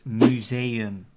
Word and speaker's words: museum: So the Dutch pronunciation of that word is museum.